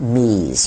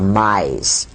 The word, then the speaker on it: me: And these devices were called me's or mi's. It's spelled M-E.